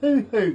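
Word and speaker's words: huhu: Have you ever heard of the hoo-hoo grub? No. Okay, and this is spelled H-U-H-U. It's, well, you're familiar with a caterpillar, right?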